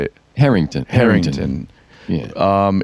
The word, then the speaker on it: Herington: Herington.